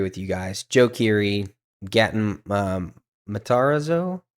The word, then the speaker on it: Gaten: Joe Keery, Gatton Matarazzo. How do you say his last name? I don't know. I don't know how to say his last name. It's Gaten Matanzaro.